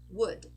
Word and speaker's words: would: it's an uh so could should would notice we are not pronouncing the letter O and we are not pronouncing the letter L okay next one we